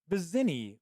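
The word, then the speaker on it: Vizzini: And it's Vizini. Wasn't that how I'm pretty sure that's how it's pronounced.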